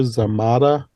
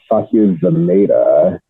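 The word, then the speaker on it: Zamata: her mom is sashir zamada which I don't recognize that name I know who that is I think it's pronounced zameda and she was a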